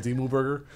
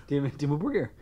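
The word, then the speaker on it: Dimmu Borgir: But thank you, Dimmu Burger. You helped. Did you say call him Dimmu Burger? Dimmu Burger.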